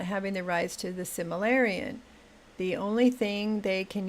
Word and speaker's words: Silmarillion: Niles says the Silmarillion, I said it right the first time, would be difficult to properly make a show about, though, the way it is written.